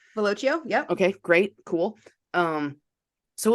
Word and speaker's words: Velocio: I don't know how to pronounce this, but the Yep. Velocio. Velocio.